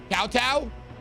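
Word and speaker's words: kowtow: Kottow like in cow, both uh syllables. Cowtow.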